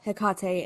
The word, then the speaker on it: Hekate: can almost vouch that spell, the resurrection spell that Sally and Jillian were doing, it was Hekate, and they said Hektate because they don't know what the fuck they're talking about because they're trash agreed.